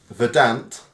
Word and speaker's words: Verdant: beer four PTY um verdant verdant verdant pronounce like you're describing a green and Pleasant Valley so I would say